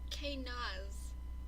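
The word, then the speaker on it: Kenaz: And this one is pronounced, it's spelled K-E-N-A-Z. And the pronunciation is K-Naz.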